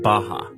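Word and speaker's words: Barra: is a place called Baja RS are pronounced like H in Portuguese this is a new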